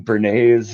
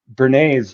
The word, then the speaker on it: Bernays: Uh, Bernays, like Bernays sauce, Bernaise.